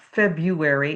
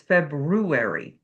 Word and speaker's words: February: of the day is there's an R in there. It's not February, it's February.